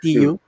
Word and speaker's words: Chiu: Chiu bang pronunciation doon? Yeah, Chiu.